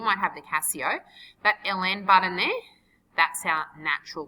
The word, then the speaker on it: ln: represented by this symbol Ln is not in I've heard people pronounce that as in before it is Ln setting for natural logarithm and on your calculator